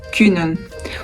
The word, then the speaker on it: kunnen: Vamos começar com o verbo kunnen. O verbo kunnen significa poder, ser capaz.